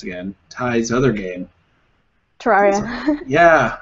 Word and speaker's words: Terraria: Terraria. Yeah, I'm sure I'm going to call it like Terriana again.